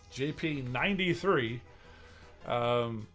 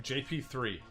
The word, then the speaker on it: JP93: except for maybe one, I called him JP3 instead of JP93.